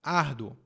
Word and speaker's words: árduo: A minha pronúncia é trabalho árduo. Árduo. Muito fraco. Árduo. Não é árduo.